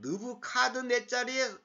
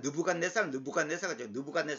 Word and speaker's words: 느부카드네살: 그런데 지금은 내가 나의 종인 바벨론의 왕 느부카드네살의, 우리 개혁성에는 느부갓네살은 걸 완전히 그 발음이 완전히 엉터리입니다.